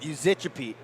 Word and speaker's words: Yuzicappi: I'm always a fan for the Teddys, but Uzichapete, spelled Yuzicappi. And looking at it, not exactly how I would pronounce it.